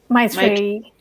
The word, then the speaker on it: Maitreya: I think that I think I commune with everybody's message so far, but I think what I don't know how to pronounce Maitreya. Maitreya. Maitreya, yes.